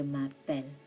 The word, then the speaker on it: m'appelle: Do not cut this into two. It should be like ma. Je m'appelle. And the E is silent.